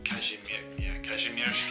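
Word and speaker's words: Kazimierz: And it's in Cashmere. That's how you say it. Cashmere.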